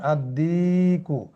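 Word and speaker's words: الدِّيك: এটা কিভাবে আপনারা দিবেন আদ্দিকু এখানে কিন্তু লামটি উচ্চারিত হবে না যেহেতু এটি কি হরুফে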